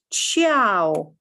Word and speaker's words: ciao: to that ciao right so this will be pronounced ciao piacere and so on so so those